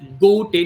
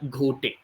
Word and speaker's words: Ghote: also an Indian Detective it is pronounced as go te not ghote okay so his inspector